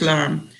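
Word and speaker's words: lame: it's called la me but it's pronounced alarm which is a cutting blade to cut bread and i would and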